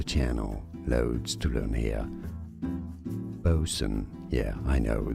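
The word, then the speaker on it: boatswain: loads to learn here bosen yeah I know the spelling is confusing loads of silent letters it should be said B Swain right no bosen bosen bosen bosen Bo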